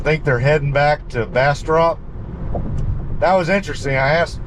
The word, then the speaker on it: Bastrop: of big plans for Bastrop or Bastrop I'm sorry going stop using my Southeast Texas Accent on how to pronounce Central Texas towns but uh yeah I